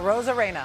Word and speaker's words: Arozarena: I can't pronounce his last name. I know it's wrong. Uh, Randy Arozarena.